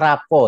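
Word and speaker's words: rapport: disebut dengan rapuh nih tulisannya raport bacanya Rapopo ya gitu Ini adalah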